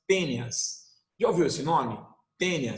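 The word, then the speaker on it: Taenia: Tênia, se escreve taênia, mas a gente lê no latim, né? Sabe? A seguido por E, você lê só o E.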